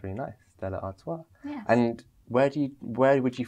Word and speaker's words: Artois: Absolutely, and especially with the French language, the S on the end is silent. So it's Stella Artois. Sounds really nice, Stella Artois.